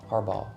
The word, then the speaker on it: Harbaugh: Harbaugh. It's a silent G. Harbaugh. There is a G though, so you can see where. But I see it, but it's silent.